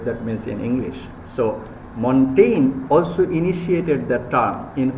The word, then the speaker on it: Montaigne: Montaigne, the pronunciation is it is this G, okay?